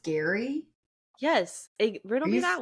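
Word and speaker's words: Gerry: it spelled g r r y and it's pronounced Gary yes he rdle me that one Batman what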